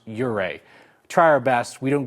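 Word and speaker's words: Ouray: the emailer says cuz I've heard you properly pronounce uray try our best we don't get them all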